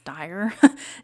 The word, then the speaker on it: Dyer: the dire Pro dire I think it's dire dire property it's spelled D ye r or the George Georgia